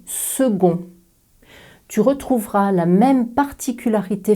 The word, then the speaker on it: second: second tu entends que le c est prononcé comme un gueux pas comme un que on ne dit pas ce con on dit second tu retrouveras la même